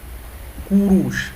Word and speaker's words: Kurush: In pronunciation wise, not spelling wise. Kurush, like that.